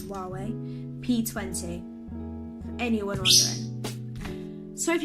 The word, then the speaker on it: Huawei: Some might call it Hawaii, but I'm pretty sure it's Huawei P20.